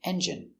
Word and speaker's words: engine: Pronunciation, engine. J. Strong, j. Eng. Engine. Engine. Engine. Stress on the first syllable.